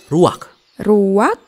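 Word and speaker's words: רוח: secara pribadi kata dalam bahasa ibraninya adalah ruwak-ruwak dan benar tenggorokan kita harus benar-benar bersih di akhir pengucapan jadi apa itu Memeh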